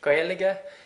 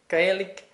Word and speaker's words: Gaeilge: about and remember that we in Ireland call the language Giga you might hear other pronunciations a bit like gik or Goan they're different kind of